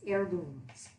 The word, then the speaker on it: heirloom: like on Facebook that the H is silence there and I was trying so hard to pronounce the H so I think it's heirlooms so let's open I